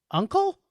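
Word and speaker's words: Unkel: So this is writer-director Nora Uncle? Looks like Uncle to me. Uncle, but it's spelled different than your uncle.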